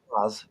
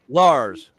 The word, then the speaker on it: Laz: Every other American pronounces Laz correctly. Do I? Hasn't he? To calling me Lays. Is it Lars or Lays? Which do you Laz. prefer? Laz? Laz. Lots. Laz. Okay. Lars. No. No R.